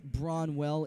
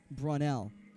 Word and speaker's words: Bronell: It's and I believe it's not Bronwell, it's Bronell. It's Bronell, not Bronwell.